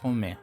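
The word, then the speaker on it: Rohmer: revista Cers llamado Eric Romé. Home sería como la pronunciación y con una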